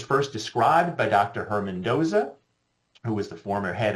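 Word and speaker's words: Doose: about is is Dosa syndrome and I often pronounced it deuce and I was told no it is not like a moose it is Doza pronounced Doza and so that is the correct pronunciation of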